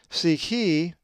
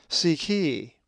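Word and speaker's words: ψυχή: If you said psyche, you are correct, for the accent is over the eta, psyche.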